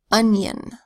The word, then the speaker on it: onion: So it starts with an unstressed vowel sound, and then consonant n, and then it's spelled I-O-N. Here the I is making a consonant Y sound, yeah. So we have schwa, unstressed vowel, n, y, another schwa vowel sound, n, onion.